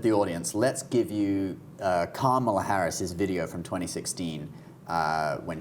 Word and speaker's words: Kamala: How is it pronounced? Kamala? Kamala, yay. Kamala. It sounds a bit weird in a British accent, though. Kamala.